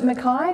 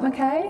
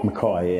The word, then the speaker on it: Mackay: that's nice yeah so you pronounce it makai not mckay makai yeah oh well i've